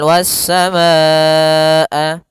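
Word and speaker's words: وَالسَّمَاءَ: Pada lafal wasamaa ada bacaan mad wajib. muttasil. Mad artinya panjang.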